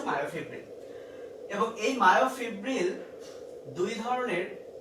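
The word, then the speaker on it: myofibril: তো পুরোটার নাম হচ্ছে মায়োফিব্রিল বা কেউ মায়োফাইব্রিল বলেও ডাকে, অ্যাকচুয়াল উচ্চারণ হচ্ছে মায়োফিব্রিল।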